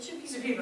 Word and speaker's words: Shipibo: So I was just more curious on, you keep mentioning the Shipibo, is that how you say it? Shipibo.